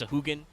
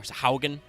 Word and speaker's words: Sahagin: like, Final Fantasy they're Sahagin like are also actual very much the men. D&D Sahagin, because that's just how Final Fantasy works, but yes. Which can also sometimes be pronounced Sahugin. Or Sahaugen.